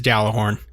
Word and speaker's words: Gjallarhorn: and as a reminder the correct pronunciation of Gjallarhorn is dalla horn and i'm so hype